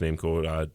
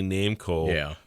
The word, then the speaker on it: Namco: Founder of Namco, and it might be no, I think it is pronounced Namco.